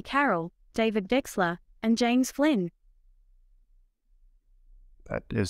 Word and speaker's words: Wechsler: Carroll, David Wechsler, and James Flynn. That is so cool. You even pronounced Wechsler correctly.